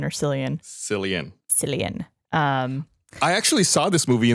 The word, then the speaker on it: Cillian: I always forget how to pronounce it, if it's Killian or Cillian. Cillian.